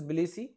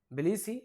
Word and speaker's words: Tbilisi: Tbilisi, you can say, or the actual pronunciation is Tbilisi, T is silent, Tbilisi, Georgia. The actual pronunciation is Tbilisi, you can say, it is in Georgia.